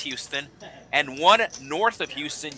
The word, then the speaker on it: Houston: Or is it Hon? No, it's Houston.